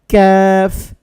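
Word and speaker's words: ك: বলছি কাফ কফ এইভাবে তারপরে যে হরফ এটা হচ্ছে জিহ্বা একটু আগে বাড়াইয়া তারপর উপরের তালুর সাথে লাগাতে হবে উচ্চারণ হবে ক্যাফ এখন একটা জিনিস খেয়াল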